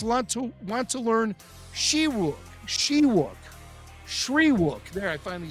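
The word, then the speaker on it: Shyriiwook: says most padawans want to want to learn shiuk Shew Shri there I finally said it right Shri the language of the wookies most padawans of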